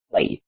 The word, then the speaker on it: played: Recuerden, no pronuncien la e. Si la escribimos, si toca escribir esa e, pero no se pronuncia. Decimos played. ¿Okay? No played, porque esto no es una T, es una D. Así que no se pronuncia una T, sino una D.